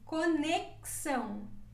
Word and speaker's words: conexão: letra s experiência experiência esse pronúncia também como se fosse uma duas letras sessão uma seco com s pegasse conexão conexão a isso é com